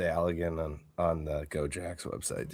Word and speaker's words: Allegan: Or so it's Allegan, but one. Allegan. I know I said it wrong.